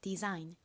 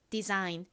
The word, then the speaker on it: design: G는 묵음으로 소리가 나지 않죠. 에는 니은 소리 나서 연결하면이 됩니다. Design 저희가 생활 속에서 참 많이 쓰는 단어이죠. 같이 발음해 볼까요? Design.